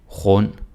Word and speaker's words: rund: Så undskyld, underlig, rund, sund. And again. Undskyld, underlig, rund, sund. Okay? Yeah, you can do it. D is silent. Don't say undskyld and underlig, rund, sund.